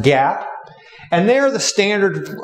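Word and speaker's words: GAAP: are generally known as generally accepted accounting principles or pronounced Gap and they are the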